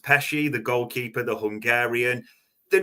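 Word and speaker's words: Pécsi: Liverpool have made a signing this week, a young kid, I believe it's pronounced Pesci, the goalkeeper, the Hungarian.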